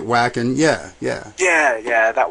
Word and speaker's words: Wacken: of vacon open air I don't if it's wacken vacin wacken however I think we pronounce it wacken yeah yeah yeah yeah